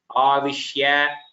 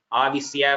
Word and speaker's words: आविश्य: Here the shakara you are pronouncing it as sakara. Avishya, vaivashyam, parishamayan. All the shakara is heard as Avisya, Vaivasyam. That shakara you should tell a Shankara, you are telling like Saraswati. You are saying Sankara, which is not correct.